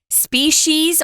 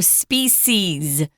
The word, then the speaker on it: species: because you kind of heard two different pronunciations of one of our vocabulary words and that's species or species they're both correct and you heard both today so they're both correct you can pick the one you want so you can either have a sh sound in it or not just have an S species or species uh